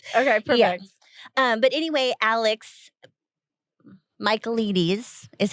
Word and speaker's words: Michaelides: But anyway, Michaelides is how they pronounce it in the audiobook.